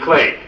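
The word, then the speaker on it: Iklé: How do you pronounce it? Eclay. Eclay, thank you.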